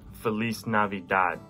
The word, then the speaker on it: Feliz Navidad: and the last question how do you say merry christmas in spanish we have to be uh felice died shout out miss flores